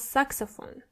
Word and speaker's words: Saxophon: So this word stays almost exactly the same. As you can see, the E at the end does not exist in the German version. Das Saxophon. So the pronunciation is exactly the same.